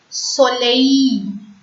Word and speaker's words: soleil: E-I-L. E-I-L-L-E is pronounced as E. Soleil.